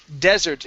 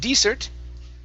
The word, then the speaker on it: desert: car okay good uh next up is desert instead of desert okay this is desert very good and uh